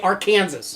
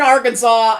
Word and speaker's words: Arkansas: in little rock okay it is illegal to pronounce arkansas incorrectly so you can't say our kansas or kansas the way a lot of people would probably say it if you are in arkansas and say our kansas